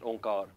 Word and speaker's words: Onkar: So how do we know that this symbol actually should be pronounced onkar?